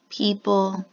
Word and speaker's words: people: this PAH II oh do you notice that we don't say all of the sounds in that word people in this word people this oh here makes the e a long e sound